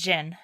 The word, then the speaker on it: Zin: So it looks like Zin but it's Jin.